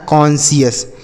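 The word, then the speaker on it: conscious: तो सी ओ एन को हम पढ़ेंगे कौन और सी आई ओ यू एस को पढ़ेंगे सीएस। ये लिखा है कॉन्शियस।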